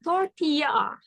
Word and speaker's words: tortilla: So, because it is Mexican food, for the words, this one, we call it tortilla. Tortilla. Jadi double L dibacanya Y. Because it's Mexican.